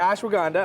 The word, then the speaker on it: ashwagandha: Okay, this one I'm going to need help pronouncing. What do we Yes. got? We got ashwagandha? Yeah, that's good. Okay, thank you. Ashwagandha, yeah. All right, ashwagandha.